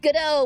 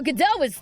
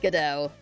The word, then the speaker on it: Godot: He is like if Godot was on the defense throughout the game. Ah, okay. Gotcha. It's that sort of attitude. Though Godot was something else entirely.